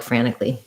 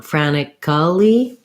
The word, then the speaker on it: frantically: word like frantically um this letter a is the a black cat file so you can um maybe pair it with another word like act if you're having trouble with the file there act frantically had frantically um and then frantically watch out you don't want franikali we'd we'd reduce that to justice not an extra syllable there so that's